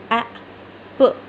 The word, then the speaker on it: Apple: Apple. Apple. आपने ये double P है तो इस पर बहुत ज़्यादा जोर नहीं देना. एप्पल नहीं इसको बोलना है, ठीक है. इसको सॉफ्टली अदा करना है.